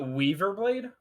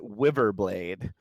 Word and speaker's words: Wiverblade: Is it not Weaverblade? No, it is Wiverblade.